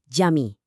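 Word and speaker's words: cami: Jadi, di bahasa Turki huruf C itu dibacanya persis kayak huruf J kita di kata jalan. Gampang kan? Makanya kata untuk masjid jami itu dibacanya jami.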